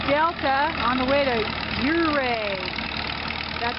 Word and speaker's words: Ouray: We're in the town of Delta on the way to Ouray. That's how you pronounce it.